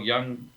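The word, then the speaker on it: Jung: Um the many of your listeners will know professor Carl Young and Carl Young spelled J U N G not not young in in the other pronunciation of the word.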